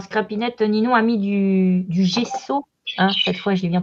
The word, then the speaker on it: gesso: Alors, Scrapinette, Ninon a mis du gesso. Hein, cette fois, j'ai bien prononcé.